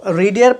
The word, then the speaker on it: read: তো রিডের past participle কি মনে রাখবেন? রিডের পাস্ট পার্টিসিপাল হচ্ছে রেড, রেড, কিন্তু স্পেলিংটা সেমই থাকবে READ, কিন্তু উচ্চারণটা বা প্রনাউন্সিয়েশনটা হবে রেড গেল।